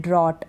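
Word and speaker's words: drought: अब यहां पर है ड्रॉट ओ यू के बाद जी एच है तब हम जी एच को नहीं पढ़ रहे हैं ड्रॉट पढ़ रहे हैं तो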